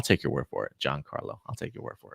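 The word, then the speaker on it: Giancarlo: Esposito name on purpose since I told him countless times that has pronounced John Carlo you know I saw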